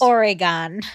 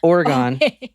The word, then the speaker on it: Oregon: weird okay go ahead I said it how it's pronounced Oregon Oregon we're going to Portland